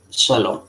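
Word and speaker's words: שָׁלוֹם: Y ahí tenemos una palabra donde tenemos una Kames Gadol, ¿no?, tipo alarga, en esta palabra conocida por ustedes que se pronuncia Shalom.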